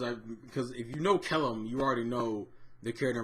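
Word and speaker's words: Kellam: ke I think it's I've heard name pronounced Kellum and kelum but I'm calling them Kellum I love Kellum Kellum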